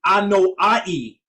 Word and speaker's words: Anoa'i: So you're part of, I want to make sure I pronounce it correctly, Anoa'i Yes.